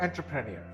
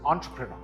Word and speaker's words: entrepreneur: This word is not entrepreneur. The E is actually pronounced as an O, and the stress is on the first syllable. This word is entrepreneur.